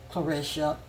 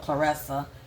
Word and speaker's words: Claressa: It's very sad to me for her, because the insecurity that I'm seeing in Clarissa, let me just say that. I think it's spelled Clarissa, pronounced Clarissa.